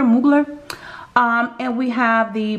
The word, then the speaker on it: Mugler: salt air and we have the angel by moogler i think that's how they pronounce it muggler mugler um and we have the prada la rosa